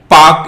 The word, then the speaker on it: Palk: इसे पाक स्ट्रेट कहते हैं, स्पेलिंग याद रखना, PALK, पाक स्ट्रेट।